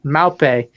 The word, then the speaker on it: Maupay: Maupe. From the range of 15 and 20 million pounds, and Everton still has no wins this season. Not really making any splashes in the transfer market, except getting Maupe.